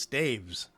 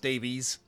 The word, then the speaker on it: staves: it's not it's pronounced staves it's not pronounced stabies or stavis um I've tried